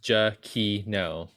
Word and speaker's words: Giacchino: Well, it's spelled like Giacchino. It's like Frappuccino, but not. There's a GIA in front, and then there's Kino.